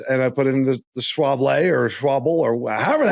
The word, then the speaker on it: Schwalbe: Schwalbe.